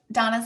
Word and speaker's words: Dana: Yes, you can definitely find me over on Instagram at This Is Donna. Donna is spelled Dana, and is like the sport.